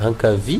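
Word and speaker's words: ankavia: Un cavi, vous voyez, on ne lit même pas les A, comme s'il n'existait pas.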